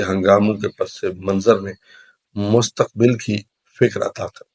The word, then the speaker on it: مستقبل: کے پس منظر میں مستقبل کی فکر عطا کر۔ اصل میں لفظ مستقبل ہوتا ہے، لیکن چونکہ غلط العام مستقبل ہے تو ہم بھی وہی پڑھ دیتے ہیں۔ اصل تلفظ اس کا مستقبل ہے۔ میں بلبل نالہ ہوں